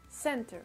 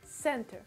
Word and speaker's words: center: L'accentuation, que ce soit en anglais britannique ou en anglais américain, se fera sur la première syllabe dans tous les cas, sur le sein du coup. Donc en anglais britannique, à la fin du mot, pour niveau de la prononciation, c'est un peu comme si on avait un espèce de A, donc ça ferait center, center, center.